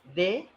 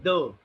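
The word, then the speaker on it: dê: here in they, that in Portuguese we never have any hard sound. Hard sound, what I mean is like D, T, like this. We Okay. always say the. Like, did you understand the the? The sound of the? Yes. Yeah. So it is the or they, right?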